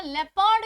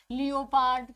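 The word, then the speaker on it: leopard: अगर हम तेंदुए की बात करें तो तेंदुए को इंग्लिश में ना लेपर्ड के नाम से जाना जाता है, लियोपार्ड, कभी आपने प्रोनाउंसिएशन सुना होगा, लेपर्ड के नाम से जाना जाता है।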